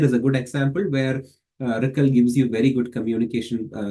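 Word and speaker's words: RCCL: own ROCm collective communication library, and it is pronounced as RICL.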